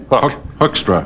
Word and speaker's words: Hoekstra: The Honorable Peter Hoekstra. Is that the right pronunciation? I didn't know whether it was within my purview to correct that or not. It's sure. Mr. Hoekstra. Hoekstra.